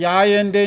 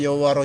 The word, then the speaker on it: 야훼: 그러니까 이스라엘 가면 엘로힘 여호와 그러니까 야훼인데 이제 한문으로 갔다가 오는 바람에 이제 어음이 돼서 여호와로 이제 우리가 발음하고 있는데 이제 야훼가 더 가깝죠.